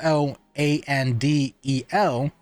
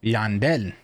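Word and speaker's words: Llandel: is teally a y whenever you see two L's on anything that's Spanish you pronounce it with a Y so for example if a person name is l l a n d e l it's not landel their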